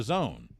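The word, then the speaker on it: DAZN: entertainment announced a partnership that uh with the Zone b-a-z-n our uh Jordan and Eddie from fighting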